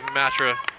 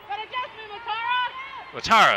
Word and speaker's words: Matara: Gets a nice single there, it is Matra. Matara, excuse me, I'm saying her name wrong.